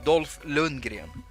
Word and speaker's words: Dolph Lundgren: it's it's awesome and that's how you pronounce his name dolph lundgren he's swedish they should have had